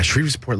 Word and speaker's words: Shreveport: Yeah, Shreveport, Louisiana.